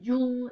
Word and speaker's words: Jung: so then you have carl jung um that's jule is how they say it another neo freudian um